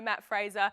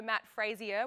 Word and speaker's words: Matt Fraser: when we said no Matt Fraser. Everyone started frantically going, why no Matt Fraser? Is he injured? Kate McNichol even said no Matt Frazier, which I think is a reference to Tommy's pronunciation, but Matt Fraser has